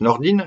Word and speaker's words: Nordin: Ça s'écrit Nordin, mais ça se prononce Nordin. Elle nous vient du Nord.